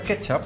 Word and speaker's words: kecap: Se pronuncia ketchup y en Asia se escribe con C y en holandés con TJ, así cuando se lee suena igual.